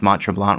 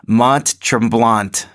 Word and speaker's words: Mont Tremblant: blong macho mom so someone told me that I pronounce Mont Tremblant wrong and you know that I don't I don't pronounce the last T which would be true blah and like that's what though isn't that like the French just like they take